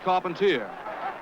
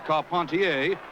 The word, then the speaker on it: Carpentier: Jack Dempsey advancing on George Carpenter or Carpontier if you prefer the French pronunciation.